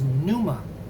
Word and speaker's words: pneuma: necessarily representative of reality the word for uh spirit is pneuma with again with the p which is silent in english and we get pneumatics